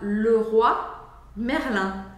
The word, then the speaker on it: Leroy Merlin: francês a gente fala le ro Merlin ro Merlin ro é uma palavra só mas antigamente é como se quisesse dizer o rei merlim ro Merlin Ro então é esse fechado ro Merlin que a gente tinha